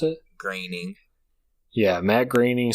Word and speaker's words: Groening: How do you pronounce it? Groening.